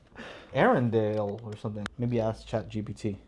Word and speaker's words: Arendal: Arendal is pronounced as A-R-N-Del. The emphasis is on the first syllable, with air sounding like the word for the atmosphere, followed by a short N sound, and ending with Dell, like in Dell Computer.